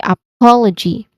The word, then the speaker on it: apology: Then the second syllable is po. This is a stressed sound. Po. Then L. There's still a SH sound here. It starts with the letter L sound. And then the final syllable is G. G. There's a letter J sound here. You basically just say G with a short E vowel sound. So you say apology.